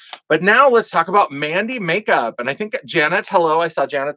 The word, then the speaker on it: MVNDI: Um cuz they spell it with a V, but I think it's Mandy makeup and then you can see even makeup they spelled like it with a V instead of an A, but also a V instead of a U.